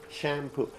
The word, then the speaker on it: shampoo: Like shampoo. In Farsi you say shampoo, but shampoo is the Farsi word. So the correct English word is what? Shampoo. You make it what? You put the stress on the first one.